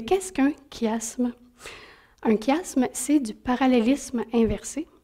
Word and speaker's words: chiasme: c'est pour ça que ça s'écrit qui asthme même si on prononce ça s'écrit chiasson même si on prononce chiasme c'est à cause de